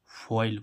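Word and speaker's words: foil: एफ ओ आई एल फइल फइल means क्या होती है पन्नी क्या होती है गाइस पन्नी देखो एफ ओ आई एल देखो ओ आई का उच्चारण ओई यानी कि फइल फइल मीस पन्नी ऐसे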